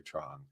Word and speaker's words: Truong: have the amazing Dr Tron Tron the g is silent and my joke is